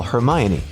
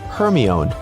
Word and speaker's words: Hermione: Call Hermione only for Siri to comply with calling Herion.